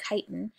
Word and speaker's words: chitin: they're so difficult to digest chitin it's spelled chitin but it's pronounced chitin is a building material that arthropods use in